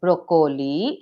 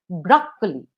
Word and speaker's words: broccoli: It's a vegetable, and we do not pronounce it as broccoli. It is broccoli.